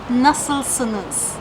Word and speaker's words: nasılsınız: So the formal way of saying it is nasılsınız?